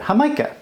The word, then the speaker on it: Jamaica: so the people there instead of saying Jamaica because there's no J sound in Spanish called it hamica so that's how you would pronounce Jamaica in Spanish so we're gonna put